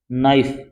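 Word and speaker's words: knife: के साथ में एन आता है तो के साइलेंट रहता है इसको क्या बोलोगे आप नाइफ नहीं बोलोगे क्या बोलोगे नाइफ नाइ माने चाकू होता है इसको प्लूरल बनाओ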